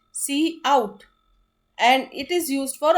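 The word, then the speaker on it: cout: operator use होता है सो सी आउट is pronounced eight pronounce C आउट एंड इट is used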